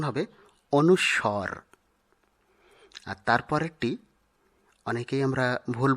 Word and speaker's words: অনুস্বর: উচ্চারণ হলো করমর্দন অনুস্বর এই বর্ণটি আমরা অনেকেই অনুসার এরকম উচ্চারণ করে থাকি যা অশুদ্ধ শুদ্ধ উচ্চারণ হবে অনুস্বর আর তারপরেরটি অনেকেই আমরা ভুল বসত বলে থাকি